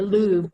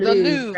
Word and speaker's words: Louvre: The Louvre. The Louvre.